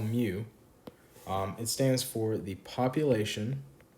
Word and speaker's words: mu: symbols so this symbol right here is called mu it stands for the population mean or in parentheses i'm going to write average um and i'm going to say put a little asterisk here pronounced um mu all right so that's population mean the x